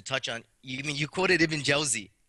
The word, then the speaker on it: Jawzi: You quoted Ibn Jawzi. First of all, it's pronounced Jawzi, Ibn al-Qayyim al-Jawzi.